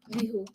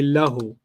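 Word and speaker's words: له: Lihu. Hu. But they don't say li. They say lahu.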